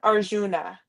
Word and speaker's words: Arjuna: I know that's from the um BA how do you pronounce? Yeah. Arjuna.